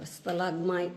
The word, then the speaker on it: stalagmite: So stalagmite and a stalactite. It's stalagmite, stalagmite. Uh-huh. Am I saying it right? Yeah. It's mite and tight. Mite and tie.